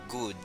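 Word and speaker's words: goud: Así que así se pronuncia, good, good, ok.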